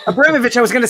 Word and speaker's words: Abramovitch: pronounce your last name it's pronounced abramovic abramovich i was going to